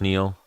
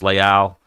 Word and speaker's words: Leal: uh Alex Moreno vers Carlos Neil or Carlos Leal is how they pronounce it Carlos oh so that